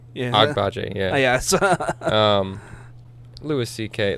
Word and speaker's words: Agbaje: The guy's name who I held a time trying to pronounce. Adewale Akinnuye. Abinje. Yeah. Agbaje, yeah.